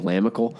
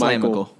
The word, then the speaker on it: LaMichael: I don't know why I just love saying Lamical. I like it better too. I said it wrong the first time I was watching him on TV, and I was like, I like Lamical, but it's LaMichael.